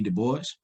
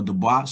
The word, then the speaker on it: Du Bois: familiar with uh w.e du bois or the boss some people pronounce his name as you know from a french perspective but uh he deals